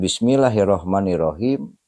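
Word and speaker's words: بِسْمِ اللَّهِ الرَّحْمَٰنِ الرَّحِيمِ: Mana yang harus dipanjangkan di sini adalah la kemudian ma kemudian hi. Jadi cara membacanya begini.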